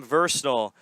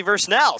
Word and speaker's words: Versnell: as well from Sam Versnall. And FC Monmouth takes a 1-0 lead only 9 minutes into the game. And it's actually Versnell. Sam Versnell scores. James Davis correcting my pronunciation perhaps.